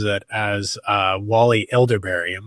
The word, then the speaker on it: Elibiary: So my good friend here, Wally Elibiary. Wally, did I pronounce that right? Close. There's a B in there. So Wally Elibiary.